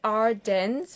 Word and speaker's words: Ardennes: Can you just repeat the name of the leather and spell it for us? This is Ardennes, which is Ardennes.